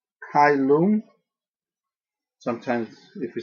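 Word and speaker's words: caelum: double vow which is pronounced I as in the English long I sound as in the i in like kyum sometimes if you say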